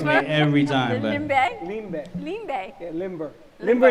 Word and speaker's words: limber: They sell the limbers. Remember the ice, the limbers? Limbe. Limbe. That's how you say it.